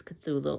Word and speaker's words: Cthulhu: lovecraftian folklore um Cthulhu a great monstrosity that in theory can't even be pronounced um so the best or the closest we can come to with our human tongues is Cthulhu and he's built a